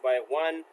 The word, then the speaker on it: x1: There are 7 different link weights supported by PCIe, designated X1 pronounced by 1, X2, X4, X8, X12, and X32, with X1, X4, and X16 being the most common.